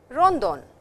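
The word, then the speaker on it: ロンドン: Paris, which is Paris, Rondon, which is London. The language does not have the sound L or the letter L. So, London becomes Rondon.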